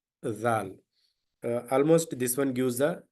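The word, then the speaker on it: ذال: uh it's uh easy I have the letters in English um that is z a a l zal almost this one gives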